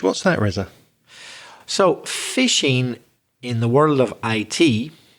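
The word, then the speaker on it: phishing: spelling it p-h-i-s-h-i-n-g so the same pronunciation as catching fish fishing but spelled with a pH what's that Reza so fishing in the world of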